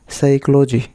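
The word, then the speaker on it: psychology: সড়া এখানে পি কিন্তু উচ্চারণ হচ্ছে না। সাইকোলজি এখানে পি এর উচ্চারণ হয় না।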